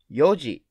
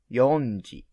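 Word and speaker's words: 四時: four o'clock is yonji but when you describe time yoji is correct you need to delete n that's why four clock in japanese is yoji yoji please remember yoji not yonji five o'clock five in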